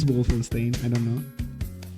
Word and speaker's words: Wolfenstein: I mean, Complex, it's from Bethesda in the same way that, you know, like Wolfenstein is from Bethesda.